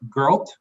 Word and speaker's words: Girl: awesome uh and yeah her last name is pronounced girl as in you go girl she's running for bpu